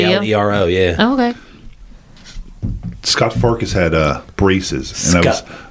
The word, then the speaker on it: Scut: Scott Farkas had braces, and Scut. They spell it S-C-U-t.